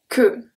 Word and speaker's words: queue: When U is after a Q, we don't pronounce the U. So this one we saw it as well. Une queue. Une queue.